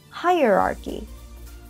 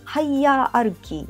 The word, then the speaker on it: hierarchy: ヒエラルキー、英語の発音で言うとハイエラルキー、ハイヤーアルキーみたいな感じなん